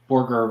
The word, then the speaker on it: Borger: Borger with a hard G.